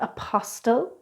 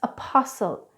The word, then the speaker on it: apostle: so it's not Castille its Castle it's not apostille its apostle it's not wrestle its wrestle and neither do we pronounce the T in these words we imported